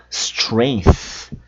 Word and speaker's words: strength: Strength, que é força. Strength. Força. Olha o th no final ali. Strength. Strength. Muito cuidado com essas palavras.